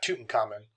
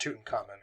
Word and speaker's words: Tutankhamun: Not Tutankhamun, King Tut. It's not pronounced Tutankhamun, it's Tutankhamun.